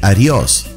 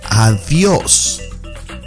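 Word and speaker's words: adiós: Don't say adios. Say adios.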